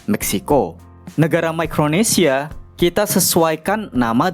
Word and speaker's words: Meksiko: Huruf X berubah menjadi KS dan huruf C berubah menjadi K. Meksiko.